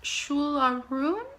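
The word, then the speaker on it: Siúil a Rún: I believe this is after a Gaelic song, and I believe it's pronounced Shularoon, and that's The Girl from the Other Side.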